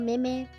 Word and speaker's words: Meme: Hey, we have a member in Miji Sanji and their full name is Mashiro Mim, but it's written like Mashiro meme. So, in that situation, it's actually pronounced mim and it's cute.